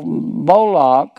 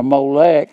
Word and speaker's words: Moloch: then and they sow moloch m-o-l-o-c-h or molec however you want to pronounce it and just south of